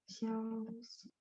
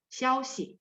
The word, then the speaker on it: 消息: Xiaoxi. Xiao-nya nada 1, xi-nya 5. Xiaoxi, kabar, berita ya.